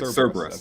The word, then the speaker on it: Cerberus: I still can't say it. Cerberus, right? Cerberus. That's how you say it? Yeah.